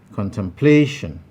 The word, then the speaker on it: contemplation: number three contemplation contemplation now in this place this word has four syllables khan tam play shin you will notice that also in this one also option c is highlighted to indicate that that is the place where the primary stress lies and it is at